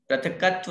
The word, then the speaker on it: पृथक्त्व: पहले शुक्ल ध्यान का नाम पृथक्त्व वितर्क है, पृथकत्व नहीं। बहुत बार उच्चारण में आधा क पूरा बोलने में आ जाता है।